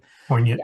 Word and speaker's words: poignant: Poignant is that that's how it's pronounced, right? Poant. Yes.